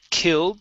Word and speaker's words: killed: plants all right so with that d we don't want to finish the d saying killed the plants or killed the plants okay we're going to say killed plants killed plants okay so not enough